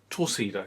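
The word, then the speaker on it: Torcido: I've pronounced those completely wrong. Demora, is it Tosida? Tosida, yes.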